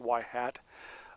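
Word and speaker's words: ŷ: but the we'll use y with a little carrot over it which is sometimes pronounced y hat um as the um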